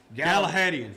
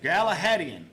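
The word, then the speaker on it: Gallahadion: And I can't pronounce How do you pronounce this, Scott? Galahadian. Galahadian.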